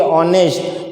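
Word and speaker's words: honest: न यहां पे देखिए ऑनेस्ट यहां पे एज साइलेंट है जो वर्ड बिगिन होता है एच से बिगिन होता है लेकिन यहां पे एच वो साइलेंट है प्रोनाउंस वो वोल से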